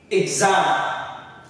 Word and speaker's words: exam: We have exam. Exam. The X, which is the first syllable, is like not stressed, and then the final syllable, the second one, is what's stressed.